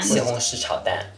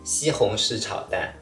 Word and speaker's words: 西红柿: 西红柿炒蛋， Slowly. 西红柿炒蛋。